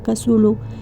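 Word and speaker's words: Cthulhu: ejemplo de estos seres Tulum pronunciado en español como casulo es una entidad cósmica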